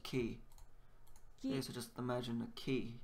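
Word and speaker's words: き: easy one to remember cuz it looks like a key it's pronounced key so just imagine a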